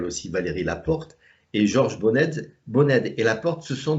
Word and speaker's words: Boned: Docteur Bonnet, vous êtes Alors, docteur, vous continuez oui, oui, et mon nom c'est Boned. à Bonnet, ça se Oui, prononce. ça se Ah prononce oui, Boned.